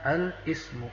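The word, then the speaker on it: الاسم: Cara membacanya al-ismu, ada alif lam, al-ismu.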